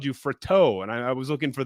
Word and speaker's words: Fratto: Is it Fratto? How do we say that? Fratto, you nailed it right out of the gate.